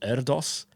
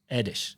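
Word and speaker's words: Erdős: our um our Paul Eros episode but of course corrected our pronunciation Paul erish uh edish edish edish so there you go from Deb um on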